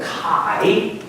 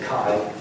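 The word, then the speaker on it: chi: I'm going to call this angle Kai or K is probably a better pronunciation, but Eric Marker we often say Kai.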